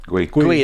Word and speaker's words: Guehi: Guehi, that's how you say it.